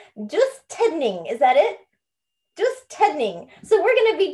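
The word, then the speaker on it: döstädning: And if you're from Uppsala or Göteborg and you have the singing voice, it's dus Ted-ning. They like to put an emphasis into each syllable with a lot of energy. So it takes energy to death clean.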